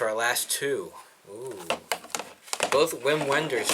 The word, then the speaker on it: Wim Wenders: last too oo both Wim Wenders films or Vim venders I say his name first up the American